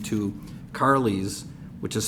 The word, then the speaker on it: Karlys: I am going to change the name to Carly's, which is spelled Karlys, a mix of my mom's name and mine, a little Karen and a little Kelly.